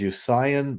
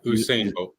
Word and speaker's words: Usain: in Jamaica I think it was usion bolt if I'm saying it right at the time he was the fastest man alive is that how you say it Chris yeah Usain Usain Bo okay yeah and